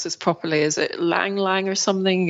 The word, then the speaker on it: ylang: I think one of the big exports for the island, and I can't pronounce this properly, is it Lang Lang or something? It's Ylang.